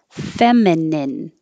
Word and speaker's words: feminine: famine two syllables famine feminine three syllables and the vowel is e femme redundant redundant reluctant